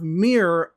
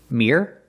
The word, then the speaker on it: mirror: And these two words, mirror, the first word is mirror, it's one syllable. And the second word is mirror, it's two syllables. You can make it more pronounced and say mirror, or you can say it fast and say mirror, but it's still two syllables.